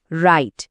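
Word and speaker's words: write: আরেকটা খুব কমন উদাহরণ হলো রাইট। এখানে ডব্লিউ লেটারটা সাইলেন্ট। নিয়মটা হলো যখনই কোন শব্দের শুরুতে ডাব্লিউ এর পর আর থাকে তখন ডাব্লিউর সাউন্ডটা সাধারণত হয় না।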